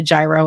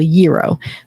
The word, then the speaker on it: gyro: in Tarpon Springs I always called it a gyro until I moved here to Florida and met some Greek people and it's pronounced by the Greek people Euro but there's a there there's the Greek Pavilion